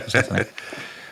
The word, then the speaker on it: Persephone: I know it's pronounced Persephone.